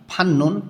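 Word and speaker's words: 받는: ঝঙ্গিয়োগা ধর্মটি ঝুনঝুন সম্মান ফান্নুন পাওয়া বা সম্মান করার ত ধ্বনির বাচ্চামের পরে যখন নিউন আসে তখন ত ধ্বনিটা ন উচ্চারণ করতে হয় ঝংঝুং ফান্নুন সম্মান করা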